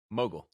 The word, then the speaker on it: Mogill: We're thrilled to have Mogill as our guest. He's the founder and CEO of CRISP. I got your pronounced your last name right? Mogill.